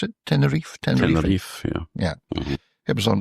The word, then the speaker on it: Tenerife: Is that how you pronounce it? Tenerife, yeah.